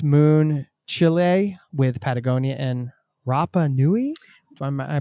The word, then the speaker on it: Rapa Nui: We're excited to talk about the book, of course, Moon, Chile, with Patagonia and Rapa Nui. Am I pronouncing that You are correctly?